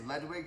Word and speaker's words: Ludwig: Ludwig? How do you say it? I say Ludwig. It's correctly pronounced Ludwig, but we're in America.